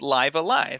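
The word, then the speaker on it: Live A Live: had live alive and now we know for sure it's pronounced live alive so there's that but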